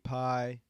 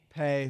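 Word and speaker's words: Paye: So I'm thinking Christian Darrisaw or Quiddy Pie. Pay. Yeah. Excuse me. I know it's a difficult pronunciation.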